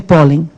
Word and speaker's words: pólen: Qual é a sílaba tônica de pólen? O pólen. É o pó, certo?